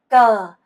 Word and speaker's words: cờ: 그래서 이것 은 " cờ" 라고 발음 됩니다 .